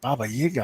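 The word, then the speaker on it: Baba Yaga: the ones I'm like Baba yiga I never heard it pronounce that way and I realize oh okay that's more legit okay that's the Russian Slavic okay I get you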